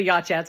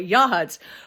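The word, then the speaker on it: Yachats: So I was sent I went to Walport for nine days, Yacht Huts, I was going to say Yacht Hats because I pronounced it that way. Yahuts for a week and then I went to Gold Beach.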